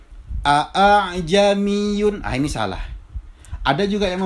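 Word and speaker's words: ءَا۬عْجَمِيٌّ: Yang benar bacanya adalah a'jamiyun. Jadi huruf alifnya itu di musahhala, ditashil. A'jamiyun wa arabi. Jadi bukan bukan juga a'jamiyun, bukan. Tetapi caranya adalah dengan cara ditashil.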